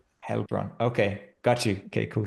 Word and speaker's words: Heilbronn: it's EI, it's A usually pronounced. So it's Heilbronn. Heilbronn.